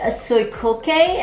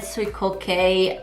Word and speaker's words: Suicoke: dr martens and collaboration with soy cocay i believe that's how you say it this is the box right here it says dr martin's airware and then sweet kay a japanese sandal brand